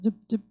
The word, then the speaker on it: drip: 이게 내성적인 삶은 막 쭉 이렇게 하는 거 힘들잖아. 저도 그랬어요. 드립 커피 하지 마시고 쭉 커피 하는 거죠.